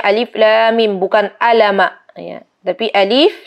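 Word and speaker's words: الم: al-baqarah dengan lafadz alif.lam.mim Hai diingat ya teman-teman bacanya alif.lam.mim bukan alamak saya tapi e-dif 11 Lam Mim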